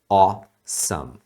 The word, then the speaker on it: awesome: a pronúncia é o esse AW em inglês normalmente é pronunciado com o som de o em outras palavras também awesome awesome é muito importante você